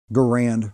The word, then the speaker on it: Garand: and that would be the M1 Garand or Garand rifle, whichever one you want to pronounce it. Doesn't matter, either way is correct.